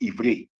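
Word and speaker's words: עברי: When you say Hebrew, we know that the word Hebrew is pronounced Ivri, and it means past, as an ancient.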